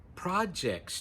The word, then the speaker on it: project: In school or at work, you may have projects to do. Project, project. Notice the stress on the first syllable, and the vowel sound of the first syllable is ah.